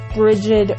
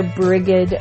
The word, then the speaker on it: Brigid: I don't do much with saying bridg or brigid or bridg depending on your preferred pronunciation.